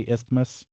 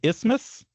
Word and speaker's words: isthmus: I think I usually say isthmus. That would be wrong. You're saying it wrong. So it's just isthmus? Yes. Yeah, I hate TH is silent.